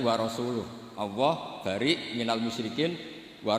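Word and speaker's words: ورسوله: Wa rasulih juga gak ngurus Rasulnya. Kalau sama Rasul saja tidak ngurus, apalagi sama kita. Bersama Sayyidina Ali dibenarkan, yang benar bacanya itu wa rasuluh.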